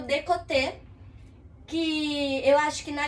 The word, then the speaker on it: côté: E esse côté, ele é C, O, com aquele acentinho do chapeuzinho, co, T, de tatu, e o E com aquele acento agudo, sim? De côté.